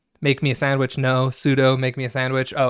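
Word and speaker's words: sudo: about pseudo now it's very important that we pronounce it pseudo and it's very important because that's how I pronounce it um you hear other people pronounce it as sudu and they'll have all these like really pedantic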